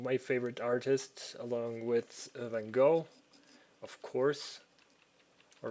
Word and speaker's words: Van Gogh: He's one of my favorite artists, along with Van Gogh, of course, or Van Gogh, as they would have pronounced it.